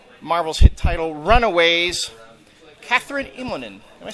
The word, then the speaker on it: Immonen: I would say, is it Immonen, Immonen? Where does the accent go? It's on the first syllable.